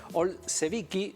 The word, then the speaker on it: Olszevicki: estamos en comunicación con nicolás el pse vicky si así se pronuncia espero que sí que me corrija nicolás como técnico buen día excelente ser la tercera persona que pronuncia bien mi apellido de uno bueno